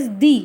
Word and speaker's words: the: मैं यहाँ पे पर्टिकुलर जू की बात कर रही हूँ इसलिए मैंने यहाँ पे दी यूज़ किया है, राइट. और इट is pronounced as दी, नॉट द.